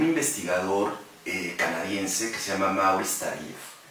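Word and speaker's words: Maurice Tardif: Y gracias a la recomendación de la doctora Elizabeth Hasso, de un investigador canadiense que se llama Maurice Tarif, se pronuncia en francés.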